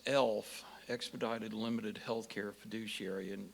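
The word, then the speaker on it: ELHF: is called being an e l hf pronounced elf expedited limited healthcare fiduciary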